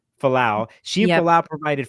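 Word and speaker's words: Fualaau: Billy Falau. Falau.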